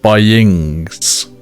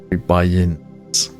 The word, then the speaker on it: buy-ins: I think like at the start of this video I said buyings. But I like sound like INGS. Buy-ins. Buy-in.